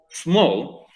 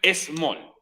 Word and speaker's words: small: Small, ojo, tiene una sílaba, tal como dice ahí el paréntesis. ¿Y por qué no dos? Es more. Muy buena pregunta, porque cuando una palabra comienza con S y después viene una consonante, se unen en la misma sílaba. No. Porque tampoco hay una E al principio. Nunca va a ser small.